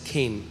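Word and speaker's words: חן: है केन सी एच ई एन बट it's pronounce S केन और जब मैं इस पर मनन कर रहा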